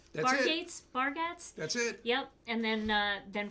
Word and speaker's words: Bargatze: Bargatze?